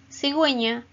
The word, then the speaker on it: cigüeña: Si, gu, eña, cigüeña. Pin, gui, pingüino. Pin, gu, y no. Es igual que los ejemplos anteriores. Queremos que suene la U por norma ortográfica. Entonces lleva los dos punticos de la diéresis.